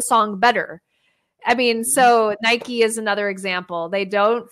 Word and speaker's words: Nike: It's because it's a brand, so they don't follow the rules of pronunciation.